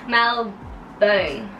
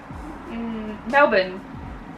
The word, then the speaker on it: Melbourne: again now born I said the same thing Mal bone Melbourne Melbourne Melbourne Melbourne very faster Melbourne Melbourne Melbourne